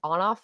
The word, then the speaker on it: ONF: And then I think this is my last guy group that I have is I think it's On Off is how you say it, right? ONF.